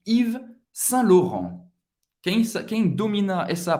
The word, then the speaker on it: Yves Saint Laurent: A-U tem o som do O. Laurent. E N tem o som do AN e não pronunciar o T no final. Vamos juntos. Yves Saint Laurent. Yves Saint Laurent.